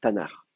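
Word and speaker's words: Tanakh: de prononcer comme ça on va mettre des petites voyelles entre les deux t on va mettre un a et le le le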